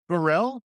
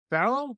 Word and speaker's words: Pharrell: it's the accent yeah. on the second syllable that I'm having trouble with.